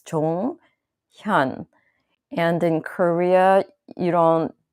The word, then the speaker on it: Jonghyun: one that he's more sensitive about so it's Chong Hyun and in Korea you don't do acronyms of